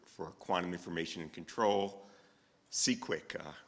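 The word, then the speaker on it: CQuIC: Quantum information and control cqu uh rhymes with Bisquick if you didn't know um he received his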